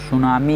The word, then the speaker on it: tsunami: सुनामी में T silent होता है और इसकी स्पेलिंग SUNAMI होता है।